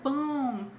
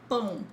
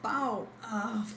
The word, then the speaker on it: pão: Eu quero pão. Eu quero pão, pão. If you say I want pau, things won't be good for you guys. Sorry to say that, but I'm warning you.